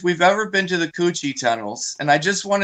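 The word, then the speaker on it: Củ Chi: guys know, the Coochie tunnels. I'm trying to say that without laughing, but that is how you pronounce them.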